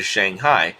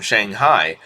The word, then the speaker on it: Shanghai: That will knock at least 25% off the current average shipping time from Peru to Shanghai, which translates into a very significant increase of overall productivity.